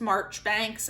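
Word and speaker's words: Marjoribanks: margaret oliphant yes yes it's pronounced march banks i don't know how you get pronounced that pronunciation out of it i'm just going with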